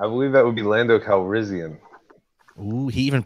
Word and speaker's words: Calrissian: Ooh, I believe that would be Lando Calrissian. Ooh, he even pronounced it correctly.